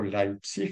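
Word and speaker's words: Leipzig: el año 1879 en leipsic o leipsic si pronunciamos a La alemana en Alemania sí nace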